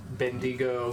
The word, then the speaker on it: Bendigo: Executor, Reginald, Bendigo, Goldbricker. Yeah, I said it right. You did. I just had to think Wendigo, but not.